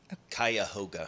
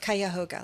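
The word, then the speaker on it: Cuyahoga: Ohio's Ohio's Ohio Ohio's kuga K am I saying it right kuah kayoga kayoga let's all say it together Kay it's a great song by RM actually that's how you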